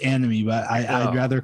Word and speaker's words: Annamie: paul yeah uh yeah it's pronounced anime but i i'd rather call her a nomi anime really it's pronounced anime